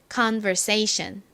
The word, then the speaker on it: conversation: 단어 발음 연습해 보겠습니다 conversation 한 번 더 해 볼게요 가장 큰 강세가 여기 부분에 들어가요 say 부분에 들어갑니다 conversation 한 번만 더